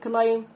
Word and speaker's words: climb: حرف البي في كلمة climb صامت لا ينطق برضو قلناها.